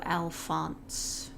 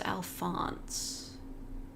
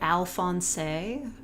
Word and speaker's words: Alphonse: there's been multiple or people pronouncing it alfonsei that's really silly ignore that Studios think PG-13